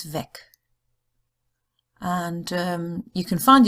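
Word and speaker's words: weg: the three-letter W because if it means the path and it's just a word on its own it's vague but if it's a prefix it's ve and um you can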